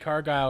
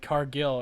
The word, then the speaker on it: Cargill: It's also Yeti who says Jade Cargill instead of Cargill, and he likes Jade Cargill but can't say her name right ever.